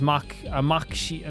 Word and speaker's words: Machi: Machi has a hard C on it, so it's Maki, like a... So, Maki. Machi is Maki.